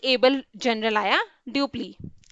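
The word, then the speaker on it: Dupleix: इसके बाद एक बहुत ही एबल जनरल आया, ड्यूप्ली, ड्यूप्लिक्स इसका नाम है, और प्रोनाउंसिएशन होता है ड्यूप्ली।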